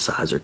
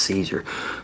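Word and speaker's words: Siser: I thought it was Cizer, too, but come to find out it's Caesar. Who in the hell would think S I S E R is Caesar, you know?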